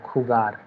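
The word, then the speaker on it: jugar: In the second point, it is written that the verb khugar, okay, khugar, this is the pronunciation, has a stem changing where u changes from u to ue.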